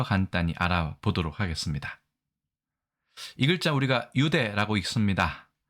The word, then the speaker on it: 유대: 첫 어절에서는 유로 읽기 때문에 뉴대가 아니라 유대라고 읽는 것이죠.